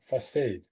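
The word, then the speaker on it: façade: It's French sort of pronunciation and the C comes out as an S. Try try this. Try the C as an S. Maybe facade.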